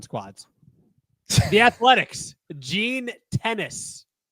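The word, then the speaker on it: Gene Tenace: Gene Tennis. Not like the sport tennis. I think that's how you say his name.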